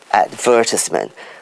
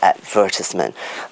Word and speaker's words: advertisement: pronunciation like for instance we say advertisement right so the stress is on the second level advertisement but the americans would say advertisement so they put the stress on the third syllable now i'm sure you